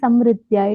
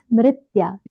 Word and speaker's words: Smritya: Smritya only you are saying Samritya. It is Smritya. Sa is half, Ma is complete, Ma has, Mru has Agata, Smritya.